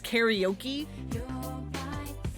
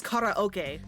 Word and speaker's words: karaoke: I mean, I know, like, here in English, it's karaoke. And that's basically just, like, the accepted way of pronouncing it. The actual Japanese pronunciation is karaoke. Because, kara means empty, and oke is short for orchestra.